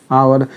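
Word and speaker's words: hour: जाएगा कहां जाएगा समझिए और ये आ रहा है आवर इसका उच्चारण हम ऐसे लिखते हैं आवर और आ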